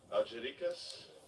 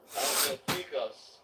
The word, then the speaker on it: Algeciras: I can't even pronounce the port we're going to. Whatever. It's a real shit, Algeric. possibly. Algericas. Hold up, socket. Huh? Hold up. Algeciras. Thank you, brother. Thank you. He told that. Algeciras. Wow. There you go. Here, put it on. Algeciras. You heard me. Anyway, glad I can pronounce that now.